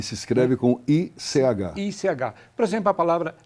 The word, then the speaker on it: ich: É um som que começa no fundo da garganta, por exemplo, o pronome pessoal eu é ich.